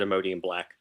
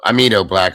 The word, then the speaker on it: Amido black: Is it Imodium black? I want to make sure I'm saying it right. No. Amido black. Imodium's for diarrhea.